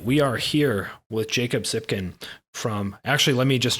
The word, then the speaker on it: Tsypkin: legion.sc all right we are here with jacob zipkin from actually let me just check on that is that the correct way to pronounce your name that is the correct way